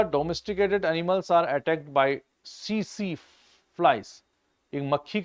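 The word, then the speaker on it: tsetse: In Africa domesticated animals are attack by CC flies. एक मक्खी का नाम है यह। सीसी कहते हैं। टी साइलेंट होता है उसमें। टेट से टेट से नहीं होता। सीसी होता है।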